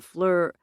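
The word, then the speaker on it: FLIR: So the next step, we'll be going in there with cameras, a fleur... A what? I asked. He had pronounced it like the fleur in flurry.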